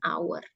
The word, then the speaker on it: hour: kan suaranya tuh ya pronounation-nya itu yang lebih kedengaran itu vokal ya our jadi di sini bisa menggunakan an hour ya kemudian Is there